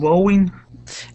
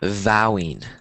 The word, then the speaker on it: vowing: Um, wowing. Yeah. What does that means? This one is pronounced um vowing. Vowing. Vowing. Yeah. So, vowing. Um, so it's like you're promising like vowing that another treasure.